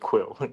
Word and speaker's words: QwQ: yeah it's okay I we just call it quill 32b something funny because the the characters look very funny we have a subculture for these things yeah just to express some yeah our feelings amazing quen quill 32b and it's typed the name is typed qwq to bre you this